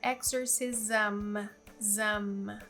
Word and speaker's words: exorcism: A pronúncia é exorcism, ok?